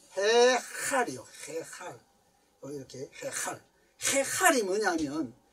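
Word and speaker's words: היכל: 이게요, 발음이 해할이요.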